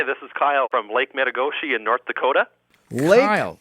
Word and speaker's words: Metigoshe: Hi, this is Kyle from Lake Metagoshi in North Dakota. Lake Kyle. Metagoshi. You got to spell that for me.